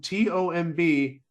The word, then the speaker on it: tomb: bits saying well why is the word tomb t-o-m-b how's why it's pronounced tomb but b-o-m-b it's not pronounced boom